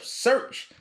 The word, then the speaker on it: Shurch: And I'm also the founder of Shurch. It's spelled like church without the C.